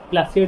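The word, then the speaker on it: Plassey: Reason हूँ battle of पलासी। ठीक अच्छे प्लासी तार प्रोनाउंसिएशन पलासी पलासी आप हिस्ट्री बुक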